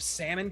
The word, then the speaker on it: salmon: I thought it was when you had just like a massive salmon cannon, Glenn's Just the a- closest. huge, girthy salmon cannon. The big Glenn, it's pronounced salmon. Salmon. I forgot. yeah, the L.